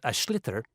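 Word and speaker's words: sliotar: basically you have to get this ball called ash litter that's SL IOT a or so it's not spells the way it's pronounced you his ears into the net for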